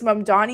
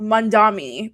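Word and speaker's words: Mamdani: are we going to realize that it's Mandani and not Mandami? Because a lot of these people just say mandami and it's really pissing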